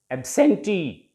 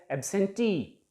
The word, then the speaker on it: absentee: There are 3 vowel sounds, so 3 syllables, and it ends in ee, means e sound, so the stress will be on the last syllable. Absentee, T को हम थोड़ा